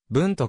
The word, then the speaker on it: Bundt: ことである a ブント系区の分との d は発音しないちなみにバントケーキ